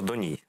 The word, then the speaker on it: Доній: Олександр Доній, наш гость сегодня. Доній, правильно ударение поставил? А все рівно, і можна і Доні, і Доній.